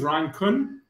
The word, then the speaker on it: Köhn: so my name is ryan kuhn that's the way i like to pronounce it i don't know if